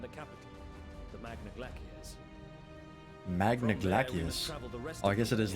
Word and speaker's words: Magna Glaciers: Magna Glaciers. Oh, I guess it is Latin pronunciation.